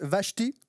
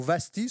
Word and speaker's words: Vashti: L'impératrice Vashti, ou Vasti selon les prononciations, organisa de son côté un banquet pour les femmes dans le palais de l'empereur Xerxès.